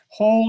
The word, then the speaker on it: whole: Whole is related to the English word heal and health. They're all the same root. That W that we have is never been pronounced. It's just a silent letter and it's there by